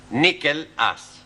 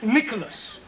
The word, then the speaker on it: Nicholas: upon a time there was a man called nickel us once upon a time there was a woman called nickel it's pronounced Nicholas sorry once upon a time there was a